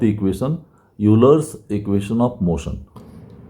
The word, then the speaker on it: Euler: Derive the equation of motion means यूलर्स equation of motion. कई लोग pronunciation में आइलर्स equation of motion भी कहते हैं।